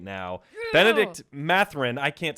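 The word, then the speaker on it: Bennedict Mathurin: 16 seed going at the one right now benedict matherin i can't say his name correct no you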